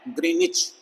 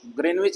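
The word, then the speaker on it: Greenwich: ये लाइन मानी गई है कहाँ, इंग्लैंड में एक स्थान है ग्रीनिच, ग्रीनविच भी बोलते हैं लेकिन सही प्रोनाउंसिएशन उसकी ग्रीनिच है।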